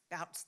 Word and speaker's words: Bouts: by Albert and Albert Albert bouts or boots how do you say that bouts thank you joy she's still teaching